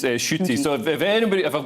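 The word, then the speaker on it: Ncuti: have assumed it was pronounced but apparently it's pronounced shooty so if anybody if i've got that wrong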